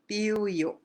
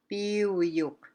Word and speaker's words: Piyuk: Okay, pronounce seal is Puyik and Piyuk. Puyik is seal. Piyuk is good. Puy, Puyik. Piyuk. They sound so close, eh? So you gotta be really careful when you're pronouncing that that as well.